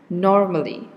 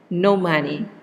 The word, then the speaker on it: normally: the example here okay this should be pronounced as normally okay when you pronounce it as normally it might be heard by other people as no money no money or this one written